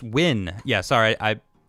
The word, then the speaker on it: Nguyen: see you ornstein okay brandon nguyen says it's win yeah sorry i it's